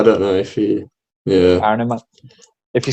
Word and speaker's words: Kahneman: Daniel Kahneman. I reckon you've absolutely nailed it there. I don't know if he. Yeah. Kahneman.